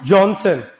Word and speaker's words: Johannsen: नहीं, क्योंकि इसमें ऑप्शन में आपको जॉनसन, जेनसन, JENSEN भी देगा कई बार, तो हमें ध्यान रखना, ये जॉन सेन बोलेंगे। जॉन सेन, जेनसन, जॉनसन, सब अलग अलग है।